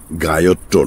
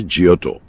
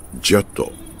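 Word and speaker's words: Giotto: গায়ত্র নয়, ইংরেজি উচ্চারণে জিয়ত, ইতালিয়ানে জিয়ত্ত, জিয়ত্ত, বট্টিসেল্লি, মন্টেগনা।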